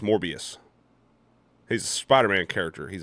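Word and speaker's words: Morbius: Also, it's pronounced MorbiiUs.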